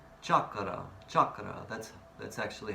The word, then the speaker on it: chakra: It's not a French word, chakra. Chakra, chakra, that's actually how you pronounce the word, chakra.